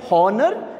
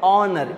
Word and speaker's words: honor: we pronounce it like Horner no we are supposed to be pronouncing it like honor H is silent so what is the next letter obviously a vowel so we have an honor again H is silent